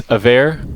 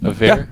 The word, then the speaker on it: Avair: I am your community manager, and this right here is Avair. Is that how you say it? Avair? Yeah. Avair.